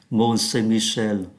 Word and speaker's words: Mont Saint-Michel: Aux alentours, âm mũi, Mont Saint-Michel, âm mũi.